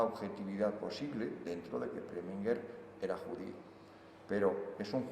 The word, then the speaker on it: Preminger: pregunté cuando le entrevisté si había que llamarle Preminger, un poco a la alemana, y me dijo, no, Preminger, totalmente pronunciado en inglés.